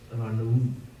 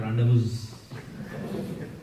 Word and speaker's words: rendezvous: There are so many syllables in there, but rendezvous. It is not rendezvous. Rendezvous.